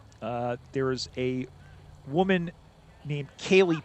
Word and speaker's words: Ceilidh: There is a woman named Kaylee Pate for the Midnight Suns. It's spelled the Scottish way, Ceilidh.